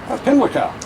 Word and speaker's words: Pimlico: Pimlico.